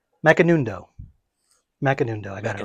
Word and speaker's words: Macanudo: It's M by I can never pronounce this name. Macanudo.